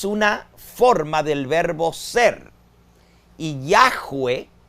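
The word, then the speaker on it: Yahweh: Yahwee, como se pronuncian esas cuatro letras en hebreo, también es una forma del verbo ser. Yo soy está en presente del indicativo en primera persona. Yo soy Yahweeh está en participo, que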